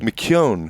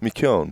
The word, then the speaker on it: McKeown: McKeown? McKeown. Yeah, that's perfect. McKeown.